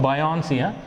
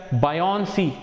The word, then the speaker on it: buoyancy: See the spelling of buoyancy. We pronounce it as buoyancy. Spelling B-U-O-Y-A-N-C-Y.